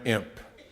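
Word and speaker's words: Impe: a man named Jack Van imp or MP depending on if you pronounce the E on the end how many of you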